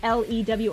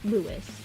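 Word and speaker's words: Luis: oh I thought it was like l e w i s or l o u i s louw but it's l u i s Lew um so sanguinius sees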